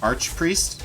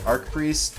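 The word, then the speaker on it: archpriest: why or arch priest you pronounce it archer arc i pronounce it arc priest but i mean like over arcing but some people say arch like arch angle angel instead of archangel some people say that i don't know if it's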